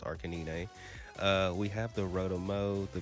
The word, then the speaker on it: Arcanine: I know how to actually say it, but hey, listen, if you know ball, you know it's pronounced Arcanine.